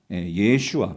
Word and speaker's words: 예슈아: 여러분이 알고 있는 우리 성경에는 여호수와 히브리어로 예수와 예슈아 정확한 발음을이 예슈아가 여호수아로 우리는 번역이 되었고이 뜻이 뭐냐면